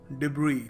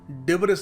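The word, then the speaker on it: debris: डिब्री डिब्री। जी हां, इसको सही तरीका है प्रोनाउंस करने का। डिब्री और लोग क्या कह देते हैं भोलेपन में।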